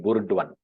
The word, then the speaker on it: Burdwan: So it sounds like Burdwan. Perhaps that is how Britishers would have discerned it and then uh, uh, pronounced it, and then that is how they brought it into use.